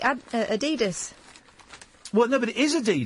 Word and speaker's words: Adidas: European way, Adidas. Adidas. What? Adidas. The American way, Adidas.